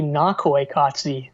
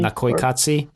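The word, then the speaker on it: Naqoyqatsi: recording a wikipedia here it's actually nakoykatsi that's how you would pronounce it interesting yeah yeah i don't know that might not be exact but i think that at least the emphasis is on the first syllable there yeah well he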